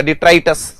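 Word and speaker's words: detritus: तो ठीक है, हाँ, डिट्राइटस हो जाएगा, डिट्राइटस। प्रोनाउंसिएशन थोड़ा सा इसका ध्यान देना, डिट्राइटस, ठीक है, डिट्राइटस।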